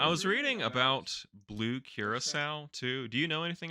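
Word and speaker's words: Curaçao: for the long time I said Krakow or something something like that yeah you know phonetically yeah you sound it out right but it's it's the the island of Curacao which is in the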